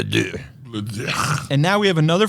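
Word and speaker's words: deux: And I thought it was pronounced Diox, but we were all corrected. Is correctly pronounced Le Dieu.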